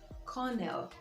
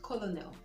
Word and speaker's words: colonel: This word is Cornell. Cornell, and not colonel.